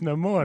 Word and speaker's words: Namor: I think you're saying his name wrong. No, it's no more.